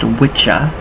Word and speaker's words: wicca: you think all right wiccans think about that so right now in um anglo-saxon the phonetically pronounced word um wicca w-i-c-c-a which would be correctly pronounced witcha w-i-t-c-h w-i-t-c-h-a which uh